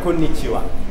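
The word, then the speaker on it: こんにちは: رغم انه هذه اصلا ايما هي ها ما تنطق إيما هي ها تنطق كونيتشيوا.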